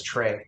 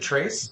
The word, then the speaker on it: Tres: Amigos or is it it's Trey right Trey I mean is it Trace are you sure okay you know you pronounce the X because I thought it was like in Spanish so it was Trey